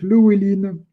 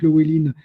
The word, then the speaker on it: Llewellyn: Ce soir, nous avons le plaisir de retrouver Llewellyn, que je ne prononce pas à la gaélique comme il m'y a invité.